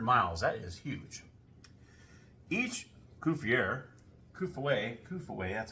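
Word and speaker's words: Coup-fourré: Each Kufuwe, that's how you say it, Kufuwe, each one that you used, you get 300 miles.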